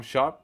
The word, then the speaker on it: Sharpe: improve yourself it's it's inevitable nah it's not pronounced Sharpie come on man sharp how about ICT n